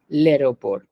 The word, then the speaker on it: l'aéroport: Then nous attend à l'aéroport। ओ, तुमने कुछ अलग बोला था। जो आ है सिंपल, आ ले उसका आ प्रोनाउंसिएशन ले इज the same as a pronunciation.